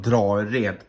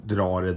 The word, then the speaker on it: Drared: Jag berättade precis nyss att endast namn från Drared till Drared där vi bodde utanför Lagerfors på 90-talet. Men man sa nog Drared mest innan också.